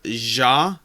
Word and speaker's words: Xia: Legends of Adrift system, which I always say Zia Legends of Adrift, although I believe the technically correct pronunciation is Ja Legends of Adrift.